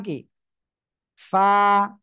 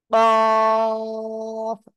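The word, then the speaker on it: ق: এই অক্ষরের নাম কি কফ মোটা আওয়াজে পড়তে হবে চার আলিফ টানো হবে কোন জায়গা থেকে উচ্চারণ হবে জানেন জিহ্বার গোড়া তার বরাবর উপরে তালুর সঙ্গে লাগিয়ে উচ্চারণ করবেন কাফ একসাথে বলেন কাফ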